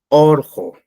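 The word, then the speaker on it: urqu: Normalmente se pronuncia orjo, que significa cerro o macho, pero su escritura ha de ser con una U.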